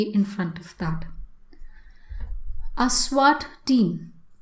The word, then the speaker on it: SWAT: front of that a swat team you will never hear anybody say as w80 team but they will say swat team so in those kind